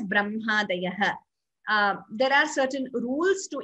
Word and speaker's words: ब्रह्मादयः: Similarly, even in diacritics in English, though it is written as HMA, we pronounce it as Brahmadayah.